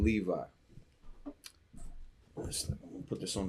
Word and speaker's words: Levi: So sometimes, like in the name Levi, I'm gonna put this on the board real quick. The name Levi. So the way it gets pronounced is Lauya.